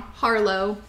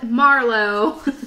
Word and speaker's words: Harlow: another and remarried pattern I always say it wrong Harlow for some reason I keep wanting to call it Marlo but I guess on to